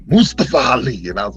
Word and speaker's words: Mustafa Ali: Yeah, pronounce that man. Show that man name with some respect, yo. Mustafa Ali.